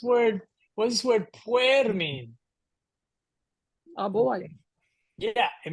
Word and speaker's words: puer: what does this word PU mean a boy yeah it means literally boy all right notice I said pu right it's almost like that UE is squished together so pu so um EST all